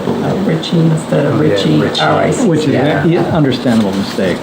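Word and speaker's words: Ricci: Richie. Which is an understandable mistake, but. They're pronounced the same.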